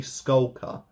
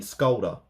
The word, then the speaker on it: Skulker: I think I've been saying his name wrong this entire time. I think it's actually Skulker, and I've been saying Skolder.